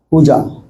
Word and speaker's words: puja: We discussed what do you mean called puja. Puja means to worship. And the two syllables is there, not the pu or ja. Puja.